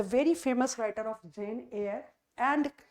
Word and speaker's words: Eyre: So the option we have, that is Charlotte Burnett, the very famous writer of Jane Eyre. And what is the pronunciation of A-Y-R-E-Y-R-E? The pronunciation is A-I-R.